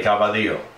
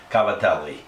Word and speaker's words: Cavatelli: Northeast's favorite pastas, Cavatelli, or as New York Italians like to say, Cavadillo. Anyway, remember, Italians pronounce every vowel of every word, so the proper terminology is Cavatelli.